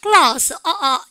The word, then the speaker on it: glass: glass. L 발음이죠. R이 아니에요. 여러분들 블라스 그렇게 지원하시면 안 돼요.